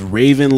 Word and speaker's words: Ravyn: Her name is Raven Lene. Raven is spelled Ravyn. Lene is spelled Lenae.